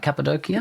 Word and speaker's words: Cappadocia: I traveled to a few different regions, and one of them was a place called Cappadocia. Did I pronounce it right? Cappadocia?